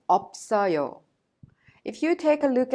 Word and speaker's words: 없어요: When you pronounce them, you pronounce the first one as it is, and the second one is prolonged to the next syllable or vowel.